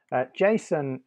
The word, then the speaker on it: JSON: JSON is spelt J-S-O-N. It stands for JavaScript Object Notation, but it's normally pronounced JSON.